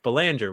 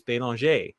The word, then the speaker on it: Belanger: And when you introduced me, you said, my name is Belanger, which is how I pronounce it here in the United States. However, it's a French name. And when in France or Canada, I pronounce it like the locals, which is Belanger.